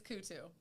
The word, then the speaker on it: Coutu: It's Coutu. Coutu. Technically, it's Coutu, but I cannot say that, so I just say Coutu. My father-in-law says so Coutu. Almost like without the O, just yeah, it's Coutu.